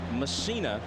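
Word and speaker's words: Mussina: Here's Mike Messina in the game, and Messina is the way he prefers to have it pronounced.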